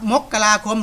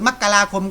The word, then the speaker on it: มกราคม: มกรา มกราคม นะ ครับ มัน ออก เสียง ได้ 2 แบบ ครับ มกราคม หรือ มกราคม ก็ ได้ ครับ ไป หา ใน อินเทอร์เน็ต